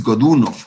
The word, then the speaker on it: Godunov: quien fue boris godunov boris godunov habría que pronunciarlo si lo quisiéramos decir estrictamente con la pronunciación rusa pero antes de hablar